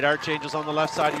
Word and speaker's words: Archangels: All right, we're being yelled at in the live chat that it's Archangels, not Archangels. I pronounce it as Arch, like the St. Louis Arch.